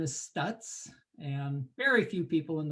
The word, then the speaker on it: Stuetz: on the recording um my last name is stutz and very few people in the world ever